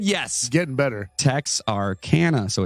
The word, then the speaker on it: Texarkana: work either then he said yes getting better techs are canada so it's texas arkansas louisiana okay all right